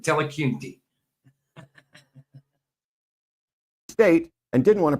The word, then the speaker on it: Dillahunty: It's pronounced slightly different, but Dillahunty.